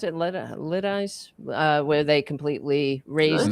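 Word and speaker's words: Lidice: How do you pronounce it? Litis. Uh where they completely raised the town. They lit. L I D I C E. Lettuce.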